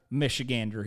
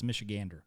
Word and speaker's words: Michigander: see how real right michigander he is and that's actually how you say it's michigander yeah it's not michigan d right there's two who says michigan some people do that is in michigander yeah michigander yeah i